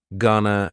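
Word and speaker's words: gonna: contraction just like Wana gunana is generally pronounced with the schah Gunna gunana you going to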